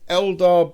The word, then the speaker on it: Eldar: showcase The Ballad of the sky serpents it's pronounced Eldar buddy you should know it you created them